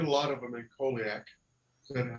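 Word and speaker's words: Colac: So I did a lot of them in Colliac. Is that how you say it? Colliac?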